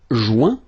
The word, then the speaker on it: joint: Joindre, joint. Rejoindre, rejoint. Okay? Same thing, final T not pronounced. Joint. So when you get this O-I-N combination of letters, you get the sound ouin.